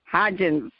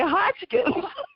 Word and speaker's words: Hodgins: before i recorded because up here in new jersey we say hodgkin that's interesting yes yeah